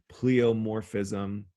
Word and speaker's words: pleomorphism: about the mycoplasma right pleomorphism that looks like it's spelled wrong i think there should be an i in there p-l-e-i anyway um pleomorphism